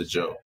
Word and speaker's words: Ajou: My name is Ajou. It's pronounced Ajou.